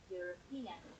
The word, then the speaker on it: European: So we have the word European, which starts with a vowel letter. But it is again pronounced as you, European.